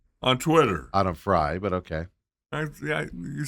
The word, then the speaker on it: Frey: Your girl, Autumn Frey, on Twitter. Autumn Fry, but okay. You say it how you want to say it. I jokingly say it Frey because it's spelled that way.